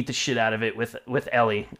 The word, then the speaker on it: Ellie: of it with with ellie i said it right that time i would keep saying ally cool guys thanks for